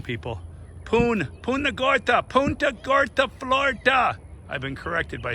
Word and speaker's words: Punta Gorda: So it's gonna be quite interesting to see how we do in Punta Gorda.